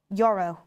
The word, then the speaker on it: Yoro: A lot of people are talking about my pronunciation, Yoro.